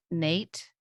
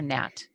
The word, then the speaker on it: Nat: Is it Nate or Nat? I think it's Nat, but um you would know like N A T like how do you pronounce it? Um Nat like a bat.